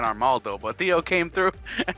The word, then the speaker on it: Armaldo: He went straight out with water and then proceeded to get 4 kills with his Armadillo. Is that how you say his name? Armaldo, yeah.